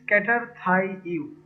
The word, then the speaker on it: Cater Thai You: our business, the business name is cater thai you, intending to sound like cater to you।